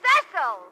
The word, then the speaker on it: Cecil: a friend now it's Cil Cil darling is pronounced cesil what did you say